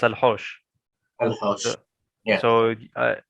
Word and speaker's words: Al Haush: it's Al Haush. Al Haush. So, Yeah. so if I'm not mistaken, you'd spell it as AL and then space HAUSH.